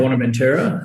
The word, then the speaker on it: Buenaventura: How do you pronounce that? Buenaventura. Is that right? Buenaventura.